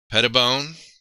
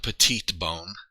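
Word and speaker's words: Petitbon: Pettibone. Yeah, I think he was kind of a given that most of us knew from modern NFL times. Look at that. Not petite bone.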